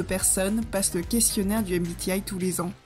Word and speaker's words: MBTI: MBTI à prononcer en anglais, car il s'agit du sigle de Myers-Briggs Type Indicator.